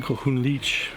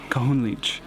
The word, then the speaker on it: Kohunlich: Kohunlich. Kohunlich. Which is not as Mayan. It's an English word and a mispronunciation of an English word.